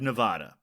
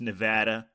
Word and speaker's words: Nevada: seller selection as coming from the state of Nevada when of course it's pronounced Nevada despite our diligent tweakings this technical glitch remained